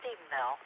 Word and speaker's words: Stephenville: However, they pronounced Stephenville wrong. It's Stephenville if you are from that area. And my family is from Comanche County, so we know how to pronounce it.